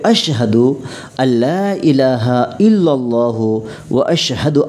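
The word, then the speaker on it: أشهد: আশহাদু, অনেকজন বলে আশহাদু, কিন্তু উচ্চারণ হবে আশহাদু আল্লা ইলাহা ইল্লাল্লাহু ওয়া আশহাদু আন্না মুহাম্মাদান আবদুহু মুহাম্মাদুর রাসূলুল্লাহ।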